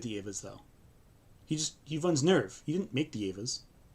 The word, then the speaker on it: NERV: special operation known as NERV is headquartered. But wait, even the pronunciation of that might be NERV, according to some dubs and some fans. Nerve?